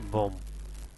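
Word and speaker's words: bomb: বি এর উচ্চারণ এখানে না আসে, এখানে হবে বোম।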